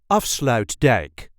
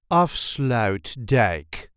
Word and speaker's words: Afsluitdijk: This is the way we say off slout deck of slout deck. There is a light emphasis on the first syllable of slout deck. Off slout deck of slout deck.